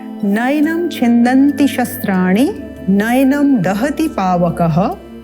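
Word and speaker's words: नयनम्: का प्रयास करते हैं पहला जो पद है वो है नयनम यहां पर आप ध्यान देंगे जो ऐ का स्वर है ये बहुत विशेष है इसको अधिकांश लोग उच्चारण करते हैं नैनम तो ये ए नहीं है यह है ऐ नय नयनम छिंदंति शस्त्राणि ण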